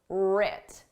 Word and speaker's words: writ: and failures were writ did you spell this starting with a r or with a W the W is silent just like in the word write the W is silent but in spelling it's there in pronunciation it isn't writ large what does